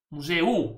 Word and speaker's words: museu: Museo U. Ma si pronuncia e o Ma allora tem um banco eh non era a chi?